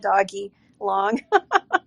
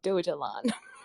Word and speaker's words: Dogelon: I didn't want to mispronounce it and call it doggy long. No, that's great. I just want to level set with the room. It is Dogelon.